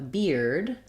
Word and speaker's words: beard: dictionary um for ear I think of ear as ear like my ear like fear near we can also spell it with e-r-e like in here um and so uh using a sentence like I feared a beard you can think of that ear diphthong that one does Glide so whereas ER is